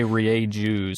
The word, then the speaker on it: Rieju: it is Like, kind of 3 syllables in that. yeah, it's a Spanish word. So yeah, Rieju, that makes the the sound that it looks like it's supposed to make, and then the J makes the H sound.